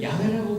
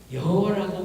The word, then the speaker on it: 여호와: 그러니까 참된 여호와의 이름, 여호와라고 하는 그 단어의 참된 발음을 알 수는 없습니다. 그렇게 오늘날은 어떨 때는 야훼라고 부르기도 하고 여호와라고 부를 수도 있을 것이고 예호와라고 부를지도 모르고 또 다른 어떤 모음인지 들어간지 모르는 것입니다.